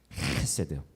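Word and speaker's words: חסד: 이거 약간 어려운 발음이긴 한데 헤세드예요. 가래를 끓는 소리를 내지만 뱉어서는 안 돼요. 헤세드.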